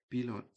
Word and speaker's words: Billund: Indeed, Billund is the airport. The D is silent, in case you were wondering.